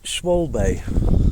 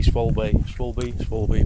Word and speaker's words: Schwalbe: The old, I still can't remember how you pronounce it. Schwalbe.